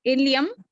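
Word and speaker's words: ilium: और excuse me ma'am, हाँ जी, एक बार दोबारा से रिपीट कर दीजिए तीनों नेम, मतलब हाँ प्रोनाउंसिएशन। मैं बोलती हूँ। इलियम, इलियम, इलियम, इशियम, इलियम, इशियम और प्यूबिस, प्यूबिस, ठीक है।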